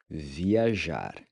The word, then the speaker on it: viajar: Viajar. Viajar. Viajar means to travel. The J is pronounced like the J sound in the word measure. Viajar.